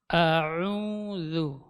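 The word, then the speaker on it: أعوذ: Jadi antara A dengan Ain harus jelas pengucapannya. Tidak boleh bercampur suaranya. A'udzu.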